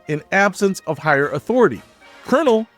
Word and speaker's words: colonel: Colonel has that weird pronunciation because it comes from the Italian word colonel, meaning column of soldiers. But English speakers messed up the pronunciation over time and here we are.